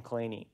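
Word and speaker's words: Kleene: pronounces his name clean never pronounced his name clean he pronounces his name claney which is kind of weird so yeah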